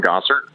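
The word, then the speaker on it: Gosart: just my name, Gosser. uh spelled G O S A R T. It's not pronounced how it's spelled or and vice versa, but that is probably the best way for people to connect.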